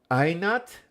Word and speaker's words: Einart: Einart. Einat? Oh, that is so different than how it's spelled.